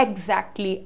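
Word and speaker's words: exactly: था हम कहते हैं एगजैक्टली एगजैक्टली करने की जरूरत नहीं है एगजैक्टली होता है वो एगजैक्टली सो हाउ डू यू से इट यहां पर जी का साउंड है इग इग जैक्ट जैक्ट एगजैक्टली सो आप जितना क्लियर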